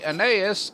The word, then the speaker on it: Aeneas: For the time being, we will say Aeneas over here, and yes, I finally found out I was pronouncing that wrong because of a relative of mine.